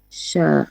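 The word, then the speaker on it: ش: The letter sheen is pronounced when the middle part of your tongue come in contact with what lie opposite to it from the roof of the mouth.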